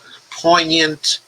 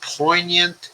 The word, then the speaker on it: poignant: Stacy says, effing Barrett pronounced poignant with the G. She pronounced poignant as poignant.